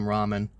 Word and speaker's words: Rahman: I kid you not, that's his last name, Ramen. I'm not being racist either. I'm just literally telling you like that his last name is literally Ramen. It's spelled Rahman.